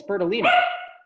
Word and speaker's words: Bertolini: Do you say his name incorrectly, by the way? Bertolini. It's Bertolini.